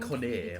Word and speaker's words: Connor: Actually, pronounced it's more like Conner almost.